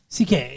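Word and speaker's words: Cinqué: Sinke. Sinke. Sinke. CK. Sinke or CK? CK. CK. Okay. Something like that. Sinke or CK?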